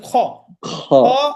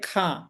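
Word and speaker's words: خَ: একটা জিনিস খেয়াল রাখবেন খর উপরে জবর থাকলে অনেকে উচ্চারণ করে খা অনেকে পড়েন খাতামল্লা খালিদিনা এরকম পড়েন তো খা আমরা বলব না খ বলব খ স আকারটা আমরা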